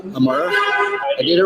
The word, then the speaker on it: Imarah: Amara. Amara.